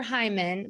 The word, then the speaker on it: Heuman: you so yeah so my last name is super weird so it's Hyman but it's spelled h-e-u-m-a-n and on LinkedIn on